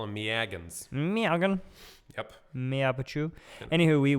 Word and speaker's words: Megan: Megan, but it's spelled like Ronald Reagan. Oh, I get it. I know a couple Megans spelled that way. Really? Yep, I call them Meagans.